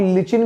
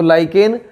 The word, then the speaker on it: लाइकेन: एक चीज आप ध्यान रखना, लाइकेन को आप लोग देखिए स्पेलिंग कुछ इस तरीके से है कि इसको लोग लिचिन भी बोलते हैं, है ना। तो लिचिन और लाइकेन में कोई फर्क नहीं है, लेकिन अगर सही प्रोनाउंसिएशन आपको करना है तो लाइकेन सही रहेगा।